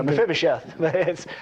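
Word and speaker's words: Mephibosheth: Zeba, the steward of Mephabos. Good luck, huh? Good luck. No, Mphibicheth. At least that's how Americans often say it. But yeah, just just pretend you know how to say it.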